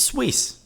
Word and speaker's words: Seuss: I don't know mhm it was swis how was the freaking answer s u i s s e is how they